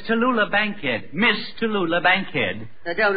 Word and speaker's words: Tallulah Bankhead: what did you say her name was the toodaloo Bank milk no no no no it's Tallulah Bankhead Miss Tallulah Bankhead I don't overdo it yet